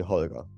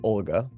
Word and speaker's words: Holger: call me call me call me holler it's totally fine are you sure just just don't call me Olga which is the noral thing how you pronounce it yeah yeah because I'm